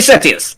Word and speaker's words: Sethius: I'm Larry Setius. Nice to meet you. And how do you spell that? Larry. Then there's a space. And then there's Sethius. The H is silent.